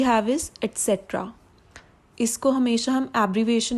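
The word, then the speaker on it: et cetera: So basically लोग इसे ज़्यादातर रॉन्ग वे में प्रोनाउंस करते हैं. एक्स का साउंड यूज़ करते हैं, लाइक एक्सेट्रा. बट एक्स का इसमें साउंड है ही नहीं. We don't need to यूज x sound. The correct pronunciation is एटसेट्रा. एटसेट्रा. एटसेट्रा.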